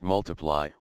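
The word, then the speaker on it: ×: UK second studio album X pronounced multiply was released worldwide on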